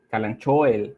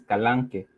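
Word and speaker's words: Kalanchoe: Otra de las reglas, pues esta que se pronuncia como Calanchoel, lo dice la gente, pero en realidad la pronunciación correcta es Calanque.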